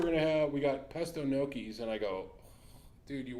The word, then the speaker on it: gnocchi: G that throws everybody it's the GN that's what I mean